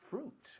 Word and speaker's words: fruit: Fruit. Muy bien. Acuérdate, no decimos fruit. Eso es como se ve, pero esto decimos fruit.